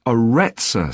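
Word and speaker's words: Aretsa: It's called the Arettza Center. That's spelled A R E T S A.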